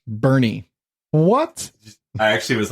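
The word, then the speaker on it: Boerne: I was talking about it's spelled BOE R and E or some like that I pronounced it born yeah that sounds like born apparently it's pronounced Bernie what I actually was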